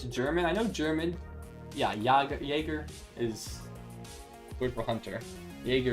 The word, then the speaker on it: Jaeger: Yeah, it's pronounced similar to a Y.